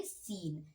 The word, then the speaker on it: scene: यहाँ पे C word silent है, SENE। तो देखिए यहाँ पे अब हम क्या लिखेंगे? अब हम यहाँ पे E भी साइलेंट है ना, यहाँ पे इसका भी कोई उच्चारण नहीं हो रहा है, तो इसे हम पढ़ेंगे सीन। ओके, अगला है, ये वर्ड